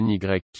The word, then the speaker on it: Nike: Un premier effort pour promouvoir le nouveau surnommé Nike, prononcé NYK et nommé d'après la